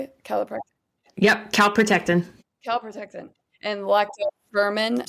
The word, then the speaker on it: calprotectin: Calprotectin.